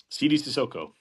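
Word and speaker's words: Sidy Cissoko: How do you pronounce this other guy's name? Sidi Sissoko.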